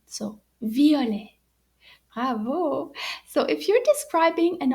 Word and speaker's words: violet: written in french and you notice the t is silent so violet so if you're describing